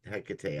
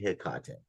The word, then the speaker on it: Hecate: dealings with Hikate or Hecate, I I always say Hikate. I know people pronounce it all sorts of different ways, but anyway.